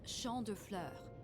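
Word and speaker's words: Champs de Fleurs: Champs de Flores? How do you say that? It's Champ de Fleurs. It means field of flowers.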